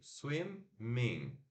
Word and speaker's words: swimming: Swim, é aquele i curto, né? Swim. E aqui o i curto também do in, swimming, swimming.